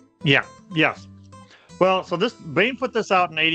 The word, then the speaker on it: Baen: But in 1987, uh I call it Bane Books. I've heard it pronounced Bayon, but Bane Books put out Cthulhu mythos and Kindered Horrors.